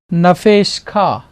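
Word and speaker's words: נַפְשְׁךָ: Sheen, Sheva is silent, Shiva जो silent है यहाँ पे, and then final form of kaf. और फिर काफ की final form So nafesh kha.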